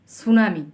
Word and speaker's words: tsunami: Answer: earthquake, সুনামি, ওটা সুনামি লিখতে গেলে কিন্তু টি লিখতে হবে আগে, TSUNAMI, সুনামি ইংরেজিতে লিখতে হলে টি, সুনামি। আর বাংলা যখন বলবো আমরা সুনামি, হ্যাঁ, ইংলিশে উচ্চারণও করবো সুনামি, লিখতে গেলে লিখবো টি, সুনামি।